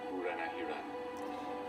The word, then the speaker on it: Buranahiran: My name is Buranahiran.